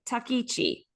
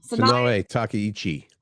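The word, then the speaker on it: Takaichi: Sai Takichi. I'm sure that's how you pronounce it. Takichi.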